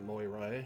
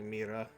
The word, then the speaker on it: Moira: I hate that they the game pronounces it Moira because it's actually Mera.